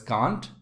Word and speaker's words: can't: bark like dogs remember can't can also be pronounced as kant because of british english and american english the third one can